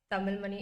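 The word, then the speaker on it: Tamilmani: sarasti Tamil money is t a m i l m a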